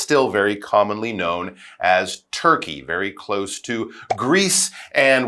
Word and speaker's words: Türkiye: We should point out that people in Turkey now, they actually prefer the pronunciation Türkiye. That's how they're encouraging people to say it, but it's still very commonly known as Turkey, very close to Greece